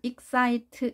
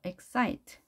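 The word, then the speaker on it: excite: 3 모양이 만들어진다 xie xie 우리말 식으로 한다면 익사이트 이렇게 똑같은 높이로 해야 되지만 영어는 그렇게 발음하지 않는 않는 거죠 exit 반드시 강세가 있는 곳에는 강세를 줘야 되는 거죠 엑 사이트 강조를 하고 싶은 거죠 그걸 5 음 이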